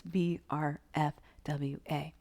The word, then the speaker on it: BRFWA: We just add the I to make it easy to pronounce, but it's BRFWA. Breathe, relax, feel, watch, allow.